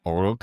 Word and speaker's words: Uruk: So, Gil Gilgamesh is the king of Uruk, but the actual pronunciation is Uruk, which sounds a lot like Iraq.